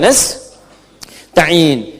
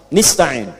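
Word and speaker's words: نستعين: Ada yang baca pakai kasrah nistain ya. Nistain ini bacaannya dari Bani Asad, Rabiah, dan Bani Tamim. Tapi kita baca harus menggunakan fathah kalau untuk kita ya. Jadi bacanya apa? Nastain iyaka na'budu wa iyaka nastain.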